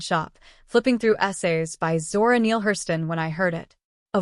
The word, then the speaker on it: Zora Neale Hurston: a small independent shop, flipping through essays by Zora Neale Hurston when I heard it. A voice behind me. Deep, smooth. Careful with English, but not unsure. Zora Neale Hurston.